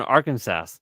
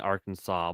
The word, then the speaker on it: Arkansas: And yes, I know the last S is silent in Arkansas, but I'm just It looks like Arkansas.